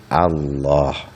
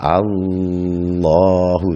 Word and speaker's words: Allah: Contoh lafal Allah, lamnya ditasdid, maka cukup Allah, tidak Allahu, tidak boleh berdengung.